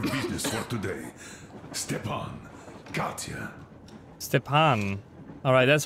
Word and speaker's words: Stepan: Stepan. Alright, that's how you pronounce his name.